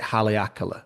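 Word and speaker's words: Haleakalā: Well, so I was on the island of Maui and I was up, I think you pronounce it Haleakala, which is the Hmm?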